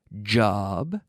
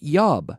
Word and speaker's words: job: have an interesting job job not yob no no job repeat that does he